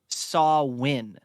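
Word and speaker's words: Samhain: roots of Halloween come from a Celtic Festival pronounced saw win and it's really weird how it's spelled though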